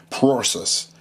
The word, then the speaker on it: prorsus: process uh it's a it's a mouthful because uh it's you know saying uh it's spelled p r o r s u s so you can imagine process uh anyhow I got it